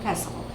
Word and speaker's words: pestle: our mortar and pestle notice i'm not saying the tea the tea is silent it is a mortar and pestle and this one is